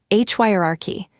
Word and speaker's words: hierarchy: Hierarchy begins like high, hierarchy. Keep the opening strong and the next sound light.